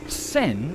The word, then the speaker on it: sen: We've uh actually got sen lek, we've got the glass noodle, and we've got uh the you know, the tagliatelle type noodle, the flat noodle.